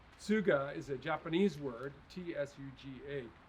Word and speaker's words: Tsuga: this is western hemlock suga heterophylla suga is a japanese word t-s-u-g-a you pronounce both the s and the t tsuga uh it's the japanese